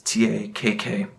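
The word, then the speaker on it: Takk...: I believe the album is pronounced Tak. It's Takk.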